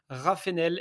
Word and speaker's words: Raffenel: veulent faire la différence aujourd'hui nous avons yannig raf enel est ce que je prononce bien ton demande famille déjà aux oies